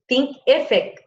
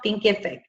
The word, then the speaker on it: Thinkific: Thinkific is where I have my self-study courses right now. Thinkific. It's spelled think, like in think, I-F-I-C.